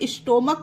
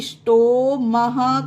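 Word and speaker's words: stomach: है फिर भी इसे एच को हा का प्रोनाउंस नहीं किया गया इसे स्टोम पढ़ा जाता है फ्रेंड इसे स्टोक नहीं पढ़ पढ़ते हैं ओके इसे पढ़ेंगे स्टोम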